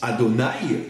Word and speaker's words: Adonaï: on le prononce différemment parce que on le prononce Adonaï qui veut dire en vérité mon maître d'où